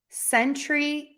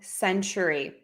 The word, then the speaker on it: century: quickly here all right century and century great question so Sentry has two Beats Century has three beads so Century Century I